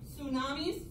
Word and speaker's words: tsunamis: it starts the T of the T is silent tsunamis all right so let